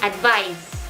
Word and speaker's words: advise: a noun so advice with an s is pronounced as s sounding as z advice so i hope you learned something from